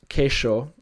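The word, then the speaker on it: queixo: Kaka with one vowel and kesho which means cheese and galithian in Spanish that's queso there's also the more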